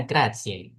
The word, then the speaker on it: grazie: Bacanya grazie.